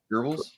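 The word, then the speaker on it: Goebbels: gbls whatever GES uh geres geres there's no R so I don't pronounce an R but um either way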